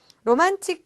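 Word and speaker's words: ロマンチック: 로만틱 그대 이 데스네 라고 했는데, 자, 발음이 굉장히 우리나라 말과 조금은 끝이 달라요. 우리는 로맨틱하다 뭐 이렇게 이야기를 하는데, 이 틱에 해당되는 부분이 일본어로는 치크라고 발음이 나게 되거든요.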